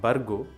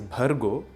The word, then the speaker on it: Bhargo: Some of the common mispronunciations are an Alpa Prana Ba instead of Mahaprana Bha. It makes a lot of difference to the sound and meaning. It is not Bargo or Bhuvaha, it is Bhargo and Bhuvaha.